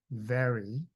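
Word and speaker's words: vary: The second line to save time I'll just give you the answer is very. V A R Y is very.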